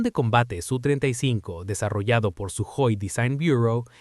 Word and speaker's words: Sukhoi: El avión de combate Su35 desarrollado por Suoi Design Bureau en realidad se pronuncia sui, pero como lo aprendí así sigo llamándolo así.